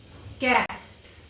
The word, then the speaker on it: cat: जब सी के बाद इन तीनों के सिवा कुछ और आएगा तो इसको कैप प्रोनाउंस करेंगे क। ठीक है? इसके हार्ड साउंड ऑफ सी जो होता है वो साउंड लाइक क। देखिए यहां पे लिखा हुआ का कैट सी के बाद ए आया हुआ है ना कि इ